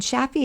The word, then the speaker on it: Shafie: Sheeta is spelled Shideh, and Shaffi is spelled Shafie.